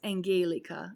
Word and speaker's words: Angelica: And it's Angelica, if you pronounce it correctly. If you mispronounce it, she does not like that.